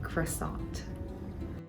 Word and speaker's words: croissant: They're spelled the exact same way for both languages because it's a borrowed French word, but in English, people will typically pronounce the T at the end, like croissant.